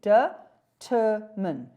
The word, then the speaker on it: determine: Where do we put the stress? We say determine. How many syllables are there? 3. Determine. We say in English determine.